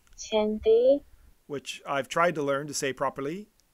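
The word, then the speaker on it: chinthe: According to Google Translate, the word is pronounced chinthay, which I've tried to learn to say properly, and I have failed miserably.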